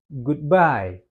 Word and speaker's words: goodbye: Dia lebih ditekankan di by-nya. Goodby gitu ya. Lebih ditekankan goodby-nya. Dia tidak bisa goodbye. Goodbye. Bukan gitu ya. Tapi goodby yang lebih powerful dia buy-nya. Oke, itu pronunciation yang tepat.